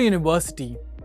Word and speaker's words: university: For example, a pear or a university. Even though university starts with a vowel, it begins with a consonant sound Y.